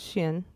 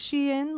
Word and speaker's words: Shein: How do you say it? Sheen. Yeah? Isn't it? Is it or is it Shein? My mom says Shin. Like, she like tries to Okay. like Shin. I don't know how to pronounce it. I would imagine it's Shein, like, because the things they're selling make the girl in. Does that make sense? Oh, like Shein. Oh, I said it wrong. What is it? It's Shein. It is?